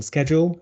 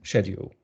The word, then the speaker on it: schedule: So, for example, schedule and schedule, tomato and tomato, and route and route.